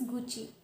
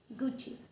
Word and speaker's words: Gucci: Yes, it is Gucci. Gucci.